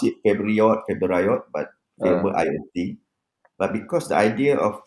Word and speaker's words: FAVORIOT: Even though the spelling is FAVORIOT, okay, but the pronunciation is actually favorite, right?